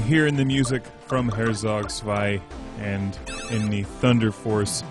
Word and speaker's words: Herzog Zwei: HERZOG ZWEI. I'm going to Americanize it.